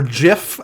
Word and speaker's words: GIF: gift for something or Jif as it should be properly pronounced but I just saw